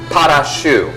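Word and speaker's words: pâte à choux: to be exact now in French they call this pot off shoe in other words it's spelled PA te shoe CH 0 ux so like shoe okay this stuff is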